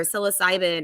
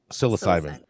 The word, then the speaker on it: psilocybin: But think about just one medical treatment with DMT or psilocybin or LSD.